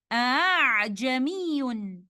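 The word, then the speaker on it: أَعْجَمِيٌّ: And the word is A'jamiyun. The word here is pronounced with Tashilul Hamza, and it is written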